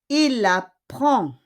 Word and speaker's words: apprend: Il apprend. Il apprend. Okay? With D, but we don't pronounce the D.